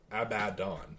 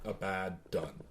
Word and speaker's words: Abaddon: So it's Abaddon. It's not Abaddon. I think it's just it's literally where you're putting the emphasis. You can't read it like that. Whether you're putting the emphasis on the right syllable.